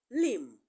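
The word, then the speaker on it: limb: comes after letter M whenever B comes after letter M whenever consonant B comes and after consonant M the B will be silent so we have Lim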